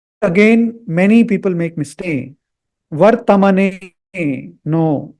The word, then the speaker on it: वर्त्मने: So this has to be pronounced as Vartmane, not Vartamane. There is no A after T.